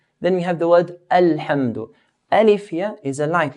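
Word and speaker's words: الحمد: Then we have the word Alhamdu. Alif here is a light letter. Arabs pronounce the alif in a light manner. And not a. So, Alhamdu.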